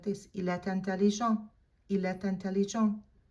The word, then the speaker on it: est intelligent: Make sure that you do the liaison, because eh ends in a silent T, and intelligent begins with a vowel. You're gonna lace them together and you're gonna pronounce that final T.